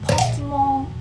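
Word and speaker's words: Pokémon: However, non-Japanese people pronounce it something like Pokemon or Pokemon.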